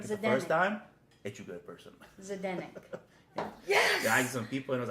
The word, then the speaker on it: Zdenek: Zdenek. How do you pronounce it? Zdenek. Zdenek? That's it. Zdenek.